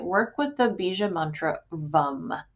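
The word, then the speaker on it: Vam: And then in terms of mantra, you might work with the bija mantra vom spelled va m but pronounced vom.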